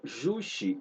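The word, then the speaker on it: Juche: ele vai desenvolver uma doutrina chamada yushi ou yushi se vocês quiserem e pronúncia o mais correto possível que é uma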